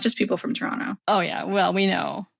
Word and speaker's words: Toronto: Because apparently you can tell when someone's not from Toronto if they pronounce the second T.